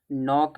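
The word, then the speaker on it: knock: नोक में भी के साइलेंट होता है।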